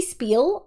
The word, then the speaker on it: spiel: Is spiel pronounced spiel or spiel? Uh, it's supposed to be spiel. I often add an S. Um, I often add an S h sound to s words for funsies.